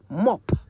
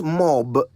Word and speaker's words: mop: votes that reminds me here's a word I keep hearing people mispronounce mop m-o-p mop a simple enough word I would have thought yet it would Amaze you just how often people say it wrong it's not mob it's mop an instrument often made